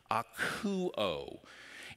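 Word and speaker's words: ἀκούω: It's pronounced akouo.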